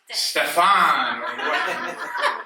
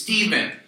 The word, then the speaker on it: Steve: And ever since then, my name is pronounced frequently incorrect, like Stefan. Like, I'm Stefan, yes. No. And then I'll say, no, my name is Steven or Steve, depending on my mood.